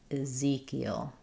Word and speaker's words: Ezekiel: In Ezekiel, we stress on the Z syllable. The second E says E, but the first E is a reduced I sound. Eiel. Ezekiel.